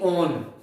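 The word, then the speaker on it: -one: ये वन नहीं पढ़ना आपको, वन नहीं बोलना इसको, इसकी प्रोनाउंसिएशन क्या रहेगी? ओन।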